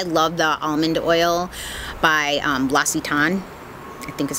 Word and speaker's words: L'Occitane: Now, if you watched before some of my favorite videos, I love the almond oil by L'Occitane. I think is how you say it, L'Occitane.